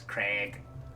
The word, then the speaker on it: Krieg: was close yeah cree creek will always be spelled with a k because it's supposed to be germanic um but they put an extra e instead of an i it always throws me off because it's craig fabius craig um but